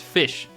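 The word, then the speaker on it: ghoti: So therefore if you spell g h o t i you could technically you know pronounce that as fish in English if you want to.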